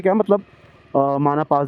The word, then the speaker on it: Mana: की तरफ जाता है एंड प्रोनाउंस्ड एज माना, नॉट माना।